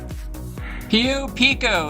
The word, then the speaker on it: Pio Pico: This is another vantage point of the Pio Pico Thousand Trails Campground. Pio Pico is the correct pronunciation, Lou.